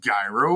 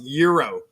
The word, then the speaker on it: gyro: didn't come from the Middle East it's not pronounced gyro what the are you talking